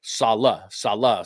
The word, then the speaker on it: Sala: Robert Sala officially, and you can see right there, Sala. So make sure that you're saying it correctly.